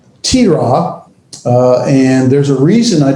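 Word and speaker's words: תִּירָא: It is, well, we'll get to that in a minute, but it's pronounced tira.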